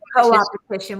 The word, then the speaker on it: co-opetition: It comes back to that competition. Is that how you say it, Karen? Yeah. Co-opetition, where you cooperate together. Yeah.